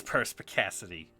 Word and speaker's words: perspicacity: i just want the trump like how to pronounce it perspicacity it is perspicacity okay that's that's that's the first time i've